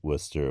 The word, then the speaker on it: Worcester: Yesterday, I mentioned the great civic pride of Worcester, Massachusetts, and that's the smiley face.